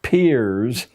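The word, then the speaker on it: Peirce: has produced he was it's pronounced peers but it's spelled as if it were pierce charles s pierce a strange figure a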